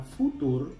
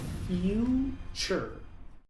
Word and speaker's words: future: Muchos pronuncian esta palabra futur o future, pero aquí la primera u se pronuncia, la t se pronuncia como t ch. La segunda u es muda y la e al final es muda. Así que esta palabra se pronuncia future.